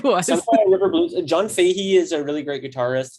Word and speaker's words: Fahey: Fahey.